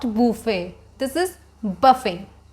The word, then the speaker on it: buffet: It's a French word, so it's not pronounced as buffet. The pronunciation will be like buffet.